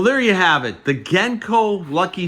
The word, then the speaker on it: Genco: and by the way I am pronouncing the name genko correctly it is not genko it is genko as in the gensburg brothers that founded the company in the 1930s but there you have